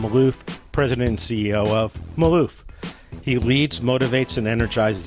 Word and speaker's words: Malouf: name of the company the company's name is Maloof we couldn't get the domain it's owned by